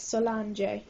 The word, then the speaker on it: Solange: the drake family um i actually looked it up online to see how you pronounce it and it's solange solange something like that i was like calling it solid something like that i was pronouncing it wrong and they're together so